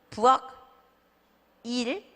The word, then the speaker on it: 부엌일: 아니고 별일 없어까지 가죠 부엌 너무 좋아하죠 제가 부엌 일 부엌 닐이죠 그게 어떻게 돼요네 한국말 하듯이 숙녀 할 듯이 부엌일까지 가는 거예요 그러니까 참 힘든 발음